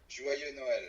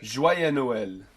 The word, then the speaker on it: Joyeux Noël: Joyeux Noël. Joyeux Noël.